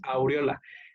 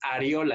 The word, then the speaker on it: areola: No es aureola con U, porque la aureola es la que tienen los ángeles ahí en sus dibujitos de como su coronita de los ángeles. Eso es aureola. Esta es areola, entonces para que lo pronuncien y lo escriban correctamente, ¿sí?